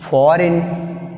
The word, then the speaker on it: foreign: Next word, foreign. Foreign. Which is silent? G is silent.